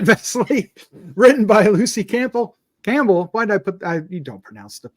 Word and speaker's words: Campbell: written by Lucy Campell Campbell why did I put I you don't pronounce the p in Campbell do you no don't